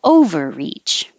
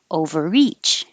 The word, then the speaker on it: overreach: on the first syllable overreach overreach if it's a verb it'll be on the second syllable overreach overreach obnoxious you don't release